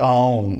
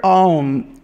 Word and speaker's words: Aum: So the letter Aum is a merger of three other letters, A, U, and N.